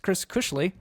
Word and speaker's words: Cushley: He says, just on a side note, the Cush in my surname is pronounced the same as it is in the word cushion.